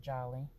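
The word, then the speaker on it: Djali: Jolly, and Jolly is spelled D-J-A-L-I. I'm not an official doctor yet, so it's not Dr. Jolivette, it's Dr. Jolly.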